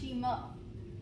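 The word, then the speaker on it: した: Okay, so Japanese for down is spelled like a bad word, S-H-I-T-A, but it's pronounced Shemo.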